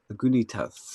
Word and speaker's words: Lagunitas: Lagunitas.